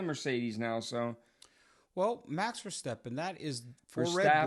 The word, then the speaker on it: Verstappen: So, well, Max Verstappen, that is for Verstappen Red Bull. Is his name, not Steppen. I just said Verstappen. No, you said Verstappen. We talked about this last show. His name is Verstappen.